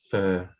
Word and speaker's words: fir: pure as fear so even though it's spelt f i r it's still pronounced fur you know english is